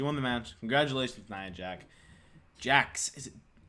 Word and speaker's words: Jax: Congratulations, Nia Jax. Is it? I know it's pronounced Jax, but why is it pronounced Jax and not Jack? It's the X. It's the X. X makes a k sound.